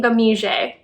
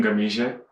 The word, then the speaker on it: Ngamije: of one by remy gamije i know i'm pronouncing that correctly because i found a video where he says his own name my name is remy gamija and i'm from namibia